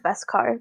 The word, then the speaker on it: beskar: Is it with a V or a B? Beskar? B-E. I think. Is it Beskar or Beskar? I think it's Beskar. That's how they pronounce it. Beskar. That's how you pronounce it, yes.